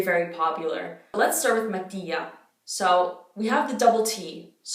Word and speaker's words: Mattia: Mattia, Matteo.